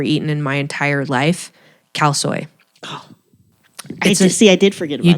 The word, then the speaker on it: khao soi: things I've ever eaten in my entire life, khao soi.